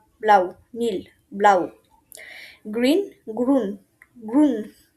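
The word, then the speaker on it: blau: তো ব্লুর মতো হলেও উচ্চারণটা করতে হবে ব্লাউ, ব্লাউ, নীল, ব্লাউ।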